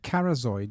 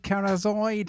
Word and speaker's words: Kharzoid: out but I want I tried to rhyme with arcanoid oh maybe should rhyme moment yes arcanoid carzoid yeah maybe that's what I thought uh I I wasn't sure I wanted to to rhyme with aroid scoid maybe that so it's Unique and it rhyme with Aran and it's a great